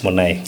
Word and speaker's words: Munai: Have I said it right? Yeah, it's Munai.